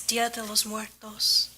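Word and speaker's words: Día de los Muertos: It's Dia de los Muertos. Thank you. Sure. Did I spell it wrong?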